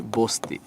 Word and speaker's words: বস্তি: আবার বলছি এই তিন সের সাথে যদি তথ নর লরি থাকে তাহলে সবসময় দন্তাস হয়ে যাবে। রাইট? যেমন আমি উদাহরণ দিচ্ছি বস্তি।